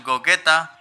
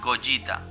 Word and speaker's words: Gogeta: está del segundo sí ya sé que aquí le decimos coqueta pero la pronunciación correcta sería goyita porque ya sabemos que